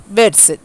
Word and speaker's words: Vedas: For example, the Vedas now pronounced Veds, Veds, Veds, are Hindu religious books written by early people called the Aryans.